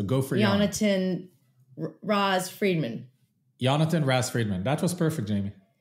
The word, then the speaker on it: Yonatan: The full name is Yonatan, but Yon is perfect and much, much easier. So go for Yon. Yonatan Raz-Fridman. Yonatan Raz-Fridman.